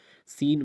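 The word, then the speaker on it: scene: SCHENT, जब एस है उसके बाद सी है, लेकिन यहाँ पे सी को खामोश साइलेंट पढ़ा जाता है। और इसी तरह साइंस है, साइंस माना इल्म, सेंट खुशबू, सीन मंजर, सीजर्स कैंची।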